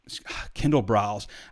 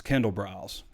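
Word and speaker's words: Kendall Briles: Art Briles Kindle brows so I said I got a lot of flight because I said hard brows in the in the walk and talk and also mispronounce Derek Lowe blonds name out even though I've been spelling it phonetically for everyone since we first reported it but it's Kendall brows you know I've been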